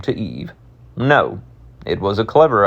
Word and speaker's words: Eve: And the English said, "Make it rhyme with Steve." Thus, Eve, a clean, clipped, silven syllable, empty of breath.